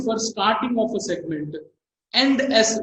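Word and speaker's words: ENDS: End S, we pronounce this one as end S because it is used for ending the segment, which we are indicating the end of the segment.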